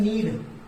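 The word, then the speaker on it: knead: तो आटा गूंथने को बोलते हैं नीड। यहाँ के साइलेंट होता है, याद रखें, के साइलेंट होता है यहाँ पर।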